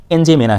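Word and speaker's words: N'Djamena: Republic of Chad central African country है और Republic of चाड की कैपिटल राजधानी एनजेमेना है। थोड़ा इसका स्पेलिंग आप लोग ध्यान से देख लीजिएगा, इसमें डी साइलेंट है।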